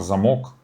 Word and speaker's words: замок: Ударение поставили в детском журнале, как бы, знаете, чтобы там замок, замок. Не глупо так.